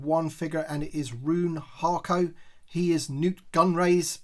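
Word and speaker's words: Rune Haako: out of the packaging I think his it's his name is pronounced roon harco as I said he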